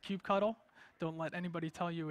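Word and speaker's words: kubectl: all the way on the left is called cube cuddle don't let anybody tell you it's pronounced differently it's called cube cuddle so that's the architecture which we went over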